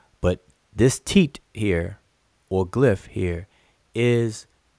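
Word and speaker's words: tit: and by the way every each individual glyph is called teat and we transliterate as t i t or some people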